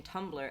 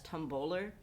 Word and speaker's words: Tumblr: But anyway, there was someone who kept pronouncing Tumblr as Tumboler, and I can't stop thinking about Tumboler, and she said it like 5 times.